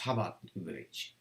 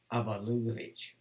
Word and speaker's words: Chabad Lubavitch: Now, it's spelled Chabad, so, but it's pronounced Chabad Lubavitch.